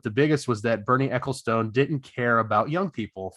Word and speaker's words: Ecclestone: F1 was previously run by Bernie Ecclestone. Is that how you pronounce it? Yep. Ecclestone.